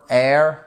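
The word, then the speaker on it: heir: La plus importante étant honest, d'accord ? Honor, air, vous ne prononcez pas le H.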